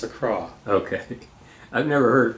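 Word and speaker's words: Accra: Acra Acra I was corrected very quickly it's Acra okay I've never heard it pronounced before and I've always said Acra yeah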